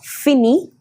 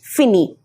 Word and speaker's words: finis: Same pronunciation for all the three. Fini. Nous finissons, vous finissez, il, elle finissent. Okay, so finissons, finissez and finis up to here, because ENT doesn't have really, a pronunciation of its own.